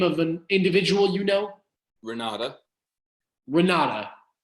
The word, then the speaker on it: Renate: Renata. Renata. It's spelled with an E at the end, R-E-N-A-T-E.